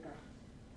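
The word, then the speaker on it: cartes: The S, the final S is not there. So say carte.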